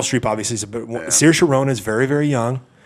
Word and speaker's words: Saoirse: Saoirse Saoirse Ronan.